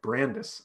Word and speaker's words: Brandis: You said it right the first time is what Brandis says. Oh, like Candace. Oh, okay. Brandis.